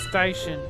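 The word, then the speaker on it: Steichen: How do you pronounce his last name? Station.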